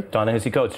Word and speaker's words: Ta-Nehisi Coates: He needs to listen to Cornel West and Ta-Nehisi Coates. Am I saying it correctly? Ta-Nehisi Coates, sure.